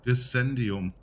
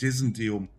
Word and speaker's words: Dissendium: Ah, so wird das also ausgesprochen. Dissendium. Nicht Dissendium, wie ich da gesagt habe.